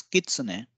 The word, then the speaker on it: Kitsune: denote tree or wood it is a single syllable word and then we have kitsane again it's not Kitsune it's Kitsune and it means the red wolf which is